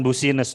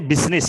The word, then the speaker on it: business: Erlin UC news bukan bussiness dong bussiness itu tetanggamu bussiness Eh ini bacanya bisnis ya bisnis carrier sore bisnis bacanya bukan bussiness bisnis ke-2016 to thousand and